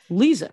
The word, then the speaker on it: Liza: Liza, right?